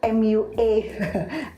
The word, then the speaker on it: MUA: Karena saya yakin ibarat kata banyak MUA, MUA gitu ya bacanya ya.